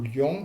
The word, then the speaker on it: lion: Par exemple, le mot miel, il est en une syllabe, et vous avez le mot lion qui doit se prononcer en deux syllabes.